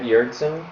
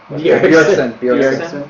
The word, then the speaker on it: Bjergsen: We can talk about how we think that Mir- Jurgsen. Bjergsen. Is I that just learned right? how to say his name.